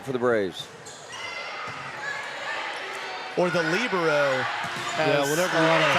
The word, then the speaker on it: libero: The libero will go back and serve. Yaden. That is correct. Trying to tie this up for the Braves. Or the libero.